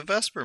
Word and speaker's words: VSEPR: will take okay Vesper VSEPR even though it's pronounced Vesper I don't know why